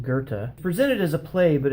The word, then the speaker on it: Goethe: the master poet gerta spelled weird but is pronounced gerta presented as a play but it's really more